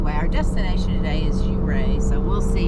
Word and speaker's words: Ouray: It's spelled Ouray, but we've heard it's pronounced Ouray.